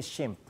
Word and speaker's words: SHMP: sodio sodium meta phosphate en inglés se dice shimp aun Ah hay una